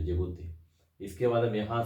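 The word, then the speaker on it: Djibouti: हम लोग बोलते हैं जिबूती। लिखते हैं डी से, लेकिन पढ़ते हैं जिबूती, डी साइलेंट है, जिबूती।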